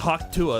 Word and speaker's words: Hawktua: It's the Pokemon Nuzlocke Coach Lock, where we have, how do you pronounce my username? Oh, it's Hawktua. That's how you pronounce it.